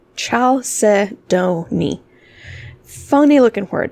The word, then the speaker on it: chalcedony: so let's talk about chalcedony that's how you say it chalcedony ciao se donnie funny looking word it's